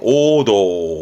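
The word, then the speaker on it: 黄銅: 황자는 음으로는 오 갑니다. 오도, 오도.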